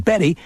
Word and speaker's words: Bette: Davis B tte but the spirited youngster didn't like the pronunciation Betty because she felt it was too oldfashioned so she just started calling herself bet these days BET's a